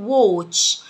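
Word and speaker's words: watch: ساعة يد، وو وو وو، الايه هنا تنطق او. ووتش، ووتش، ووتش حذاء برقبة اللي بنلبسه في الشتاء.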